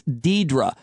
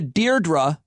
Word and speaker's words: Deirdre: not a hard name if you look at the letters you know how to pronounce it it's deidra but if you know a deirdre then that gets stuck in your brain how am i doing